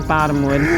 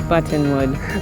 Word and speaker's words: Buttonwood: A lot of times his accent sounds like Bottomwood, but it's Buttonwood.